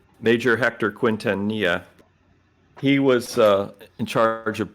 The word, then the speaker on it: Quintanilla: this other guy, Quinn, I got to pronounce his name right. Quinn, who took over in the 60s, Project Blue Book. Starts with a Q. Oh, come on. Really? Oh, PQ. There we go. Quintanilla.